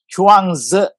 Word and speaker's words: Chuang Tzu: How do you pronounce it? Chuang Tzu.